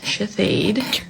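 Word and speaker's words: Shithead: It was sh hi- t h e a d pronounced shahid.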